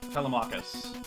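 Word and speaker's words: Telemachus: of the names cuz they're all like four syllables long. Telamachus. Telmachus.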